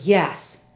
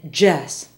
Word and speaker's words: yes: example is the word yes Spanish speakers will often say Jess other y words are